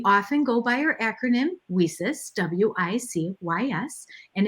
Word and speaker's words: WiCyS: go by our acronym wheesus w-i-c-y-s and it's pronounced we cis like we sisters because that's exactly what